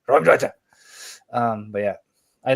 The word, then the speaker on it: Raumdeuter: That's how you say it in German. Raumdeuter.